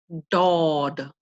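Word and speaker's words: ض: It is made by pressing your tongue against the palate and quickly releasing. Dod, dod.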